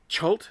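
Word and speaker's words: Chult: it's called cult ch ult it might be pronounced cult you never know hot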